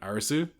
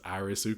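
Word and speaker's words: アリス: They're both called Arisu since that's how you pronounce Alice in Katakana. Oh, you know Alice is Arisu cuz they don't have L.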